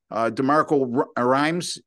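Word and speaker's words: DeMeco Ryans: And as you all know, Doug, DeMarco Rhymes, is that, I believe I'm pronouncing his name correctly.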